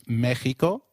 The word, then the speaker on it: Mexico: at them in detail did you notice that the X in Mexicano is pronounced as h while X is usually pronounced as X in flexible it is pronounced as a throaty h in the words Mexico Mexicano and Oaxaca which is a state